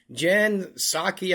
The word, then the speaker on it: Jen Psaki: Jen Psaki, I think you pronounce it, on Biden's historic Oval Office.